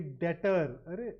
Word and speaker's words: debt: correct some the very DET so it is number one DET the B is silent here and that's spelled absolutely